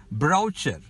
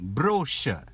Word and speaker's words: brochure: number eight brochure brochure a lot of people pronounce it as broucher that's wrong brochure b-r-o-c-h-u-r-e brochure it's a